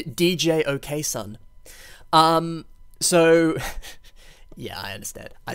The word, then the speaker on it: djokson: The first mock we have today is Keirok Iron Hand by, now apparently this is pronounced George, but I like to say DJ OK Son.